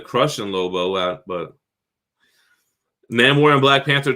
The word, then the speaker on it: Namor: Namor? It's Namor. I always say it wrong.